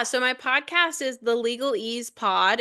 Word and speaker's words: LegalEase: Yeah, so my podcast is the LegalEase Pod. It's spelled LegalEase. So ease like easy because we're easing the interpretation of law.